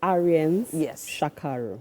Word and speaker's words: Ariens Shakarho: So, for those that um probably didn't catch the name, please pronounce the name properly for me. Okay. It's Arian's Shakaro.